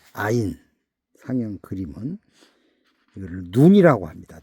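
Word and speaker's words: עין: 아인 아인 발음은 아인 상형 그림은 이거를 눈이라고 합니다.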